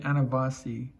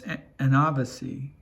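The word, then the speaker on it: ανάβαση: You're pronouncing it anavasi, and it's anavasi. The accent is on the second A, or the second, the second syllable here, and that's okay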